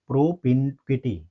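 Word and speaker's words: propinquity: ठीक है प्रोपिंकिटी मींस प्रोपक्विटी यानी इसको हम क्या प्रोनाउंस करेंगे प्रोपिंक्विटी निकटता समीपता क्लोजनेस ऑप्शन देखेंगे डिस्टेंस दूरी रिमोटनेस यानी दूरी, दूरस्थ, सेपरेशन यानी अलगाव, अलग होना।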